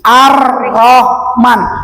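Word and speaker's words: الرحمن: lam sam samsiah astagfirullahalazim arrahman kan lamnya tada dibaca iya tulisannya ada ini kan tadi membacanya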